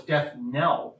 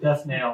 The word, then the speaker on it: death knell: And we were like, no, it's death knell.